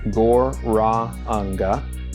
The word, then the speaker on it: Gauranga: The mantras that I'll be using today are Gauranga, pronounced Gor-ra-anga, and I'll be chanting that mantra on the head bead.